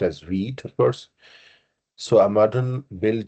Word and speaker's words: Vite: over here what is weed it's actually a French word for quick which is pronounced pronounced as weed course so a modern